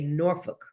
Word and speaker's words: Norfolk: You don't see So, us uh city folks from the west, we say Norfolk, but when you're from here, you say Norol, right?